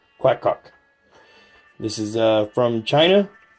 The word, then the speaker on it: QacQoc: And that is the QacQoc, and that is how it's pronounced, QacQoc, QacQoc.